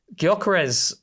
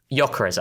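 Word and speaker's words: Gyökeres: on Sky Sports where Guyarez Yokarez actually we got to pronounce it properly. I got told off for that. And there's no esh either which I learned recently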